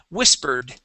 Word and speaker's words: whispered: This word here, the ED, it sounds like a D only. The word is whispered.